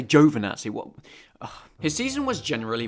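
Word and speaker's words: Giovinazzi: championship lead from antonio givenazzi his teammate at the final race of the season and i know that you italians don't like my pronunciation of juvenatsi but okay fine i'll say jovanazi what his season was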